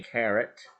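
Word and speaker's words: caret: that symbol which is called a carrot and like what bugs bunny eats and not like how much your diamond weighs is spelled differently from both of those or if you want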